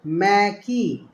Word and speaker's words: Mbeki: Then Thabo Mbeki was Mbeki, ठीक है ना, ये एम बी साइलेंट कर दिया मैंने।